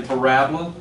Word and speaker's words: parabola: It's spelled parabola, but we say parabola.